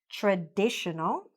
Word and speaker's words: traditional: Then let's go to the adjective, traditional. Same stress. And here, traditionally. So what happened? Did the stress change because the word became longer? No. The stress stayed the same.